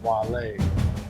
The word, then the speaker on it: Guale: Andrews Sound and the Savannah River was occupied by the Guale, pronounced Guale. I said it wrong then.